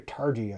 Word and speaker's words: Targi: a look at uh is it turkey or targi i think it's targy with a hard g uh which another two